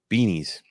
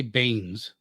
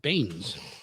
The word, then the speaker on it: Beanes: Willem Beanies. Wait, where are you? That's not right. right there. Dr. William, I would say Baines. No, The Beanes. E is silent. Baines.